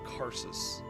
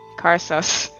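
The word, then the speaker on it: Karsus: that refers to an ancient Arcane Mage named carsus and uh how do you spell that k a r s u s I figured just want sus carus and uh it was basically the power to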